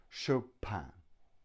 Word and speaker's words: Chopin: pin but show pan-pan which is a very French pronunciation Chopin and now we have